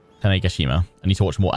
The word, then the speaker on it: Tanegashima: The pronunciation of that is Tanegashima. Tanegashima.